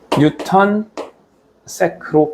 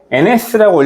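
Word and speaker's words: N·s: 뉴턴 세크로 표현을 합니다. 뉴턴세크. 자, 이거를 ns라고 읽으면 진짜 못 배운 사람이에요.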